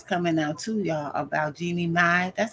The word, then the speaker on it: Jeannie Mai: So it's new more details coming out too, y'all, about Jeannie Mai. That's how you say her name. How you say this child name? I thought it was Jenny May.